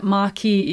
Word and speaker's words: marquis: note at this point maki is the french pronunciation i think i will follow that because that's how simon